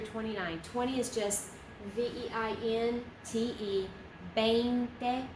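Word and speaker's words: veinte: 20 is just V-E-I-N-T-E, 20, pronounce it like a B.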